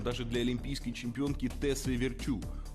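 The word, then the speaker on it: Virtue: В этом она была примером даже для олимпийской чемпионки Тессе Virt, у которой абсолютно фанатичное отношение к работе. Кстати, именно так правильно произносить её фамилию с ударением на последний слог.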